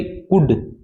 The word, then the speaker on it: could: ये क्या है अभी, कुड, क्या है अभी, कुड, इसमें एल साइलेंट है।